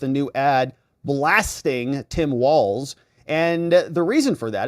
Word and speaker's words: Walz: and we'll see if Tim Walls rhymes with balls does that this is